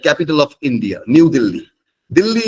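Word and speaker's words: Delhi: of India new DHI dilhi is also pronounced as Dilly in Hindi hence it is not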